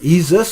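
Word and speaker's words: Isis: some sacred motive to the God exists or ease us as they was probably pronounced and nobody would mind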